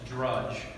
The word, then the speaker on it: Drudge: It's Drudge, just like Judge, okay?